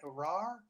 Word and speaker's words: Rahr: Rahr, I think, is how you pronounce her last name.